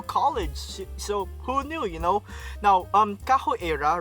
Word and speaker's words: Kaho Eira: And when you read EIRA's name, right, in the Japanese context or way of saying it, it's pronounced, or goes as KAHO EIRA, right? So it sounds like capoeira.